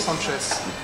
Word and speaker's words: Sanches: C'est pas pareil qu'en espagnol. S à la fin, donc on dit Sanchez.